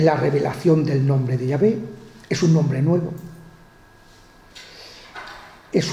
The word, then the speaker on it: Yahvé: La Y, la H, la W y la H. Entonces, la pronunciación, que los entendidos concuerdan en que Yahvé, como después de, después